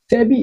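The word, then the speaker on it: SEBI: बट वही अगर हम यहाँ देखें, ही इज सेबी एम्प्लॉय, तो यहाँ हम इसको एक साथ प्रोनाउंस करते हैं। सेबी मतलब एक साथ उच्चारण कर रहे हैं, एज ए वर्ड उच्चारण कर रहे हैं।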